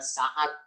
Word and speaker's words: Sa'ad: Ada seseorang yang dapat julukan namanya Sa'ad As-Salami. Sa'dun, bacanya Sa'ad.